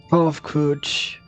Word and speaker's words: Kovkuch: As for nomenclatures addressed in my individual persons, I believe it would be pronounced Kovkuch.